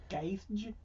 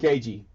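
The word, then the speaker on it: Gaethje: Gage? No, that's not how you say it. It's Justin Gage. Gagey.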